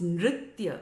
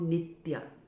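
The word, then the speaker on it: नृत्य: sri chaitanya mahaprabhu dancing now it's nitya okay it's not nitya a lot of devotees sing this verse remember the tongue goes up and you're making that motorbike sound so it's means singing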